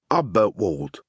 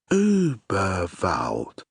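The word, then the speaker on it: Überwald: "Uberwald," he read out. "That's Uberwald," said a small, squeaky but very clear voice. "The dots make it a sort of long oo sound, but you're doing well." Uberwald.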